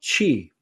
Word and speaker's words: Qi: They talk about Qi, that's spelled QI.